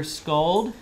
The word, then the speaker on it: Sköld: right, our final speaker this afternoon is Peter Sköld. It's the American pronunciation. That is perfect.